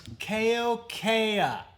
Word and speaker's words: Keokea: It's Keokea.